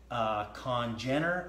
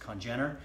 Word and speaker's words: congener: Congener, I believe is the way it's pronounced, Congener.